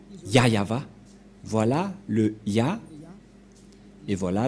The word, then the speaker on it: Yah Yahvah: et donc c'est bien la vraie prononciation de son nom yayava voilà le ya et